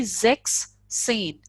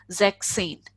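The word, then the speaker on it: sechzehn: If we put S here, so that would be Zex Sane. So there would be a gap between Zex and Sane. Because sound of Z is already Sir. The sound of Z is already Sir. That's why they just remove this S and it would be Zexane.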